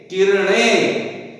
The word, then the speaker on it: किरणे: और ये क्या है, किरणे किरणे किरणे, यहां पर न आता है और न आता, हमको न का उच्चारण शुद्ध आना आवश्यक है, किरणे, नहीं तो अर्थ भी अलग हो जाता है।